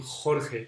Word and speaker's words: Jorge: was um saying that it was difficult to pronounce that J sound like the one in my name Jorge and it's true it's quite similar to The Sounds in Arabic in Arabic languages because we pronounce that song down here so we almost close all the on our throat so only a little